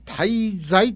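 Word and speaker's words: 太歳: でございましょうか太いとしと書いて滞在と読むんですが風水で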